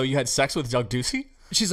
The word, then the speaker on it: Ducey: do you want to say it does up Ducey so Doug Ducey so so when you found